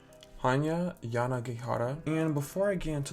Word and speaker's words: Yanagihara: hand is called a little life by hanya yagihada i think that's how you pronounce her name hanya yanagihara and before i get into this book i